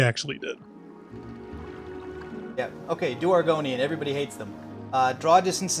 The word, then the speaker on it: Argonian: That's really to do Aragorian? I don't know how you pronounce it. Argonian.